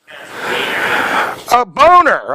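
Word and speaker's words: Boehner: Is that his name, how you pronounce it? Boner.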